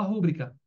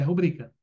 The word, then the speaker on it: rubrica: certo mas tá errada muita gente fala rúbrica mas é rubrica né então psicólogo elevador